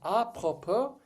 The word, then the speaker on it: apropos: Uh, from the French phrase a propo meaning to the purpose. The word's emphasis lands on the last syllable. Silent S da da da typically